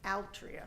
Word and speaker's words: Altria: I'm curious, how you pronounce it, Altria or Altria? Altria.